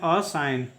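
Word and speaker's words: assign: है बना नेक्स्ट देखिए A double S आई जी एन में जी क्या होगा फिर से साइलेंट होगा क्योंकि वो एन के पहले आया है इसका उच्चारण करेंगे अ साइन इसका उच्चारण होगा असाइन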